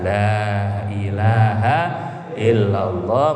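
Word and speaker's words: لا إله إلا الله: Wa maddaha itu dipanjangkan la-nya dipanjangkan. Maka biasanya kiai-kiai kalau istighotsah mohon pertolongan 3 kali pertama bacanya panjang, la ilaha illallah.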